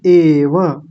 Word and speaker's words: एव: गलत कर रहे हैं सर्व एव है यह ऐव नहीं एव ठीक है बिटिया ताई